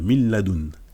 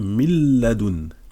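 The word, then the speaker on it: من لدن: Pour le lam, normalement on dirait min ladun, mais on va dire mil ladun. On fusionne les deux. Voilà, on prononce presque pas le nun.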